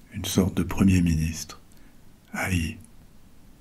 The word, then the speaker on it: Ay: Peut-être bien celle de son grand vizir, une sorte de premier ministre, Haï. Ça s'écrit A-Y.